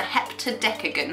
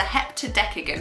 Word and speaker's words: heptadecagon: How many sides does a heptadecagon have?